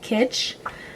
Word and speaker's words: Kitsch: November, are these, I think the brand is pronounced Kitsch.